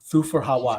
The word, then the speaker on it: Thufir Hawat: How do you pronounce his name, dude? Thufir Hawat.